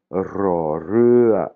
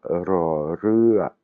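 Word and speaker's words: ร: Rémi, ça n'existe pas, ce son n'existe pas, c'est un R roulé, comme le prononcent les Espagnols. Hein. Mais si vous n'arrivez pas à rouler le R, beaucoup de Thaïs le prononcent comme un L.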